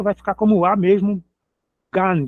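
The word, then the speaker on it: גן: Gan g a n gan, jardim.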